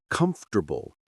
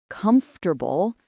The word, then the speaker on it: comfortable: Then we practiced words that sound shorter than they look, like comfortable, vegetable, and Wednesday. Wednesday comfortable vegetable.